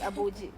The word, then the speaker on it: Abuji: my Village because yeah but now they don't pronounce they pronounce so but it's abuji yeah thank you so